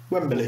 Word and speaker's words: Wembley: like that and said you've got an extra syllable in Wembley there Wembley yeah well then she